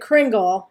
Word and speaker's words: Kringle: I'm going to say it Kringle.